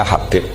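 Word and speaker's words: حبيب: Itu di harokatnya kitab itu ada yang nulis Hubab. Yang benar, oh enggak, yang benar itu bacanya Habib.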